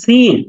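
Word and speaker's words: سين: মাশাল্লাহ তারপরের হরফটা হচ্ছে সিন হ্যাঁ বলুন একটা শীষের মত আওয়াজ সিন সিন সিন সিন এমন একটা শীষের মত আওয়াজ হবে সিন সিন শিন শিন শিন না সিন শিন তারপরের আলাফটা হচ্ছে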